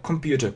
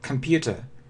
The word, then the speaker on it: computer: И вот многие говорят так, computer, computer, но это неверно, смотрите. Это звук э, э, computer.